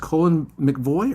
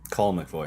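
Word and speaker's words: Colle McVoy: She's been at Fallon, Cole, and is it pronounced Colin McVoy or Coley and McVoy? Cole McVoy.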